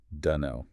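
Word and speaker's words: dunno: The word is deno. Ah, yes. Den know we're taking three technically four distinct words I do not know and compressing them into two syllables sometimes even just one grunt to know.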